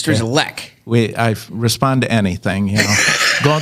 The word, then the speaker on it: Strygulec: I would call it Strygulec, but it's Strygulec.